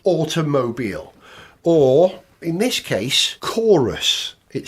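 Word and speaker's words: Qoros: It was Chorus. It's spelt Q-O-R-O-S.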